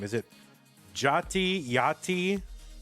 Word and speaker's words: Jati: What is How do you pronounce that player's name? Is it Jotty? Yachty. Jarty. Jarty. You mean Jotty? Jotty.